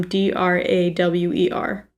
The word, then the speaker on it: drawer: are you talking about how do you say um d-r-a-w-e-r like in a dresser a drawer okay i say a drawer too but drawer my drawer no just drawer my girlfriend claims that